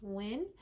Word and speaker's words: Huynh: Last name is HuynH, and it's pronounced Win.